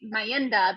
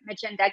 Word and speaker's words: Mayenda: Which, speaking of, a lot of people will probably see this, and the way that's spelled, we may say Mayenda, but you guys actually pronounce it Magenta.